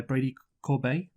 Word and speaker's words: Corbet: So The Brutalist is a 2024 epic period drama film directed and produced by Brady Corbet.